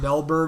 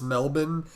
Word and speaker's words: Melbourne: I know it's not Melbourne. I know it's Melbourne. I've only ever heard it as Melbourne. Because Melbourne is how we Americans say it, but like spelled, Australians say, you idiots, it's Melbourne.